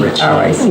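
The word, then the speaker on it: Ricci: Richie. Which is an understandable mistake, but. They're pronounced the same.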